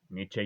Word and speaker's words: Nietzsche: seguidores de filósofos como nietzsche como Niche Niche ya pronuncié la e como quieren muchos de los que ven este canal y me corrigen tan seguido u otros avenidos